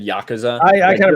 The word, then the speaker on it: Yakuza: election i think i i tend to say yakuza when i'm saying it in a sentence as the title of a game and yakuza if i'm saying it singularly but i don't know